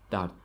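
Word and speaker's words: дард: Normally, we don't pronounce the last letter de at the end, so it sounds like dar, dar.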